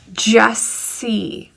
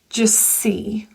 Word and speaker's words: just see: When you see that occurring and the middle is a T, usually the T disappears. Just see.